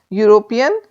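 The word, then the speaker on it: European: sound दे रहा है यूरोपियन sound जो आ रही है या से आ रही है जोक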